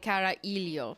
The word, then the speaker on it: carajillo: I think you say carajillo, like you don't pronounce the J, right?